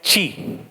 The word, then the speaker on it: Qi: wireless power Consortium that defines a spec called Chi Qi for some be reason pronounced asqi so Chi adds authentication the folks